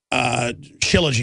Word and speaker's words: shilajit: Shilajit is the proper way to say it, to absolutely just detox the body.